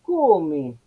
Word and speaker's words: come: En sílaba tónica, esta O habla de una O cerrada. No es una O normal, no es la misma O de rayo, es la de come.